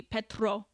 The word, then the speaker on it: Petro: the president of Colombia I don't know how to say it correctly Petro I guess you roll the r but uh he did